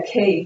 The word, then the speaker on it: quay: no funny words yeah key that's a tricky one because it's spelled q-u-a-y quay but we say a key like house key what is a key